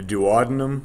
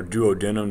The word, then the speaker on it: duodenum: and monoglycerides okay uh the dadum or Doo denim depending on who who you talk to or how they say it is this very first